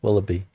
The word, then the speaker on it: Willoughby: That's how you pronounce it, right? Willoughby? Yeah, Willoughby.